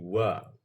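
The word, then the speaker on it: は: Nah, kata sebelum partikel ini huruf H ya, Minasang. Tapi dibacanya dia tuh jadi wa.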